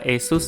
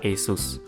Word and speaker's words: ASUS: sini dan ini adalah asus zenfone Max ya Cara pengucapan yang benar dari merek ini adalah asus tapi kalau mau bilang Asus juga enggak masalah karena memang lebih familiar sesuai dengan namanya HP ini mengandalkan baterai